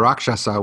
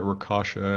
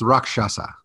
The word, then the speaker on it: rakshasa: can't ever pronounce it i always called it rakasha and i i'm pretty sure that's way off how did you say the indian weird tiger's name again i think it's rakshasa rakshasa that i remember